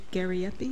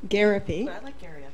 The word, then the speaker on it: Gariepy: All right, so the next speaker is Aileen Gariepy. Is that pronounced? Gariepy.